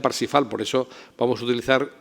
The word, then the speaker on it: Parzival: La tercera y última versión es la Parsifal, que se escribe en alemán Parzival, pero se pronuncia Parsifal, por eso vamos a utilizar por su transcripción en español la palabra Parsifal.